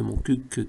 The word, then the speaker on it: Montcuq: cottenens on pourrait dire de Montcuq qu'il faut prononcer le cul serait une parfaite icône